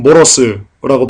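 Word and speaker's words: μωρός: 그리고 또한 미련한 놈이라는 자, 여기서 미련한 모러스라고 발음하는데요.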